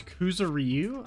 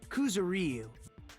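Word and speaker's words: Kuzuryu: also kuzuru another person oh it's kuzuru i've been saying it wrong oh well it was one of the names on the staff role the names were sumiki koizumi sayonji so that's how i've been saying it kuzuriu and then another kuzuriyu i guess that is kind of how it's spelled well whatever hold on why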